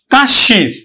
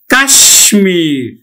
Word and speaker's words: কাশ্মীর: তারপরে দেখো পরেরটা মফলা অনুযায়ী এখানে উচ্চারণ হবে কিন্তু যে কাশ কাশীর কাশির উচ্চারণ হবে কাশির কিন্তু আসলে উচ্চারণটা হবে উচ্চারণটা হবে কিন্তু কাশ্মীর উচ্চারণ হবে কাশ্মীর।